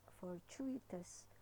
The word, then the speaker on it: fortuitous: very difficult to pronounce so just as you would pronounce fortune right you don't say for tune for tune so it's here it's fortuitous so it is a